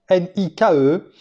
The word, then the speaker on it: Nike: la racine primaire Nik, N-I-K-E, qui est un nom féminin, qui signifie victoire et quand on le dit et on le prononce à l'anglaise comme mon épouse l'a dit hier, eh bien c'est Nike et tout le monde